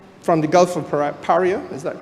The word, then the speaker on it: Paria: Paria? Is that correct pronunciation? Paria.